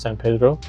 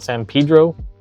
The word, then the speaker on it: San Pedro: I said San Pedro, which is the way it should properly be pronounced, San Pedro. But you may notice that a lot of the locals local to Los Angeles call it San Pedro, which I can't willingly bring myself to say,